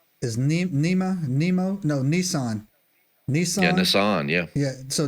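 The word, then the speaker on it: Nisan: right doc how do you say it yeah Nissan Nissan yeah Nissan right Nissan 11th throughout history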